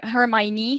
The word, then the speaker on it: Hermione: has many friends ron so ron and her hermione so this is how i pronounce her name so this is ron